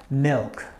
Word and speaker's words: milk: entire vowel long okay so without this one it'll be mick mick mick mick but since we have this one it becomes milk milk milk and the best way